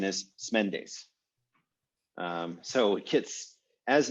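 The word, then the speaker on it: Smendes: is and the actual pronunciation of that the pronunciation is smendis um so kids as names so often do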